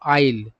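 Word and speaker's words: isle: सही उच्चारण क्या होता है? तो आइल।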